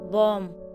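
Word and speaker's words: bomb: अगर किसी वर्ड में बी एम के बाद आता है तो बी साइलेंट होता है। फॉर एग्जाम्पल, बॉम, कॉम, थॉम, तो इसलिए ये साइलेंट है।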